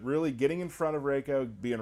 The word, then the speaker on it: Reiko: you some characters today reiko's coming Raco raids whoa did I say it right I said it wrong okay um so raker you got me got him Reiko uh people on Twitter